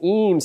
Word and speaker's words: EEMS: The name EEMS is partly a, in its pronunciation, is partly a hat tip to Ray and Charles Eames, who were furniture designers